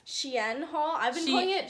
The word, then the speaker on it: SHEIN: Okay, so we're going to be doing a little, how do you pronounce it, Haley? I think it's SHEIN. SHEIN Haul.